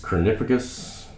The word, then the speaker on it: Copernicus: Okay, this is Copernicus. That's how you pronounce it.